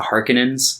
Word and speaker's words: Harkonnens: this family known as the harkonnens that is the general pronunciation but it throughout the movie they call them the harkinans yeah and it's like no they're the harkonnens get it right i think it's fine